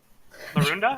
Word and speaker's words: Larunda: Larunda? Am I pronouncing that right? Yeah, because she's all like weird and shit.